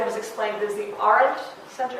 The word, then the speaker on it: Arendt: speak at the Arendt Center, which I just mispronounced for the last time. Roger has explained it as the Arendt Center? Arendt. Yeah. Like, isn't? Is that? No, Arendt. Arendt, yeah.